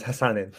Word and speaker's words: Hassan: want to pronounce it wrong would you mind pronouncing your name for me yeah it's it's uh it's Hassan and I was gonna give I I can